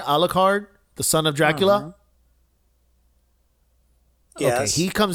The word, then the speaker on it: Alucard: Do you remember Alucard? Am I pronouncing that right? Alucard, the son of Dracula?